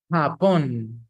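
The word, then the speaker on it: Japón: then you have Japan in Spanish upon in Spanish the letter J doesn't sound like J it sounds like so you say papon then you have Brazil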